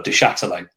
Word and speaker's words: Du Châtelet: Charlton fans did the tennis ball protest for Du Châtelet. That's how you pronounce his name, by the way.